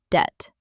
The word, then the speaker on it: debt: In English, the B is silent, so we pronounce it like debt.